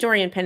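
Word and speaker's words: Doriane Pin: to gosh I think Dorian Penn is the obvious answer Dorian P excuse me because her name is French and spelled like pin but it's not pronounced like pin she's really good but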